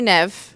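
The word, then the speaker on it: Niamh: But how she even says it is like never without the so it's like nv according to how it traditionally would be pronounced.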